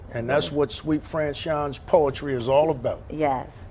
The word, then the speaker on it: SuiteFranchon: Suite, SUITE, like the hotel, SuiteFranchon, FRANCHON.